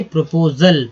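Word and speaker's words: proposal: प्रोपोजल, AL को क्या अल बोलते हैं, इसमें लग गया, यहाँ जो S जो है ज के रूप में हुआ उच्चारण, तो प्रोपोजल नहीं, प्रोपोजल, प्रस्ताव।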